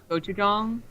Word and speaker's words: Gochujang: What I hate is the way that word is spelt is not how it sounds. Gochujang.